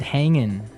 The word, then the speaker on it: hanging: But usually you don't really pronounce the G in this context cuz it's very informal.